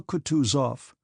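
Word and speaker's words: Kutuzov: General Coutus off said Bonsky speaking French and stressing the last syllable of the general's name like a Frenchman has been pleased to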